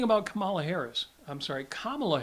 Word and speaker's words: Kamala: Camala Harris I'm sorry Kamala Harris just remember it rhymes with malamala which is what her